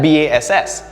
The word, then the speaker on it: bass: like percussion that's bass it's still spelt b-a-s-s but it's pronounced b-a-s-e or bass right fun